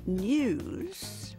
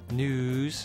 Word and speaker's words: news: For example, we used to say news and Tuesday. Now that Y sound is gone, and it's news and Tuesday.